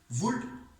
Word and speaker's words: would: वुड WOULD, जिसके अंदर अगर हम प्रोनाउंस करते हैं इसको तो L साइलेंट होता है वुड के स्ट्रक्चर में,